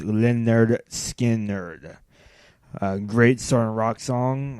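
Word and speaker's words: Lynyrd Skynyrd: number three Simple Man by Leonard Skinner from pronounced Leonard skin nner a great St rock song I mean there's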